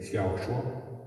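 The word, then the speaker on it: 小说: Consiguió en fin, Linchu, que la novela en chino se dice Xiaoshua.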